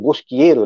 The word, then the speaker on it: Bosquiero: É, a pronúncia é essa mesmo, Bosquieiro, né?